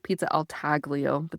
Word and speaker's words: taglio: have this pizza al taglio. It looks like pizza al taglio, but they don't pronounce the G, kind of like lasagna, right?